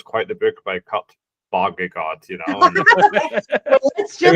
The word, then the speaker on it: Vonnegut: It's Kurt Vonnegut. You were confident. I'm very confident it's Kurt Vonnegut.